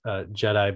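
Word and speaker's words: GEDI: the measurements of that jedi mission it's called jedi pronounced jedi but it's spelled g-e-d-i and that acronym is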